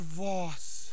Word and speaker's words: Voss: Pronounced Voss.